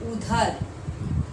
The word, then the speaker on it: उधर: और यहाँ पर ध है, यानी उच्चारण क्या होगा? उधर, उधर, तुम उधर जाओ, यानी उस तरफ, उस तरफ, उस तरफ।